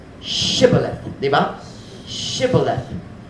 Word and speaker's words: shibboleth: Shibboleth. The word is shibboleth. I don't know what shibboleth means, but they couldn't pronounce it. They could only say sibboleth.